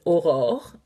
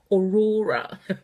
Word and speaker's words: Aurore: My name is Aurore in French, and yes, it can be hard to say. So it's Aurora. People say in the UK, which is quite funny.